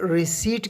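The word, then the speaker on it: receipt: कहते हैं प्याले को रसीद के लिए हम इंग्लिश में रिसिप्ट कहते हैं रिसेट इस लव्स में लेटर पीस साइलेंट है आपने इसे रिसीवड अदा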